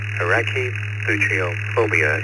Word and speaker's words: Arachibutyrophobia: Arachibutyrophobia, it's Arachibutyro phobia. Guess I got the last syllable correct.